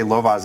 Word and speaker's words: Lovász: But so Lovász, and there's an accent on the A, yeah. So let me just say Lovaas in the 70s proved